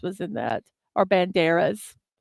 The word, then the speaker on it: Banderas: Because I think Antonio Banderas was in that, or Banderas. I say his name wrong. Put the accent on the wrong syllable.